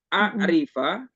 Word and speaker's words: أعرف: Dibacanya salah dikit itu bisa berbeda. A'rifa ya, kalau a'rifa ini kayak di sini di bawah, ini artinya aku tahu. Tapi kalau u'arrifa aku ingin memperkenalkan.